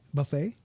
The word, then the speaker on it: buffet: u f f t why is there te in there silent te it's French for no like the word is French but are we saying it right buffet or is it buah